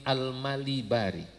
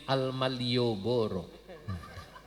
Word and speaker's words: Al-Malibari: Namanya Asy-Syaikh Zainuddin Al-Malibari. Cuman santri karena nggak ada harokatnya sering salah baca. Bacanya Syekh Zainuddin Al-Malioboro. Dikiranya dari Jogja meren ini. Al-Malibari jadi Al-Malioboro.